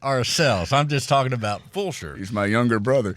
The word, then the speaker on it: Fulshear: It's spelled Fulshear. So make sure you get that spelled correctly. Sometimes people mix up the L and call it Flusher.